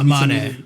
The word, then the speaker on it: Amane: Oh yeah, you said Misa Anme, or I think it's Amane.